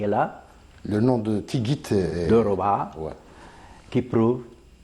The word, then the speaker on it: Tigit: et son nom c'est il est écrit ttigit t I g i t ouais mais la prononciation c'est tigit tigit voilà et là nous avons